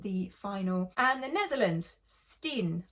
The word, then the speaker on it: S10: And the Netherlands, Steen, I think that's how you say it, even though it's like S10.